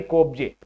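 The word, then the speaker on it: Skopje: मैसेडोनिया की राजधानी कोपजे, मैसेडोनिया की राजधानी कोपजे। कोपजे बोला जाता है, एस साइलेंट रहेगा, एस लगा दीजिएगा।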